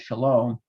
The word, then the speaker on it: Shalom: it's over here but long a to O should be very familiar because it's the reason the Hebrew says Shalom and Arabic says Salam because the Arabic reflects the original pronunciation of that second vowel uh in Shalom and